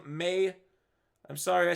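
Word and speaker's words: Maye: when they're rating me marcus main i always say main but i'm wrong may i'm sorry i say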